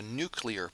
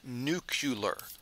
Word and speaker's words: nuclear: the operation of a nuclear power plant and real quick take note that that's pronounced nuclear not nucular even though America has